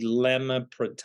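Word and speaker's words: elamipretide: I was mispronounced. It's ELAMIPRETID, lemapretide.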